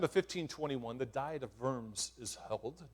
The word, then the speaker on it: Worms: 1521 the diet of worms is held w-o-r-m-s pronounced v not w um it's a place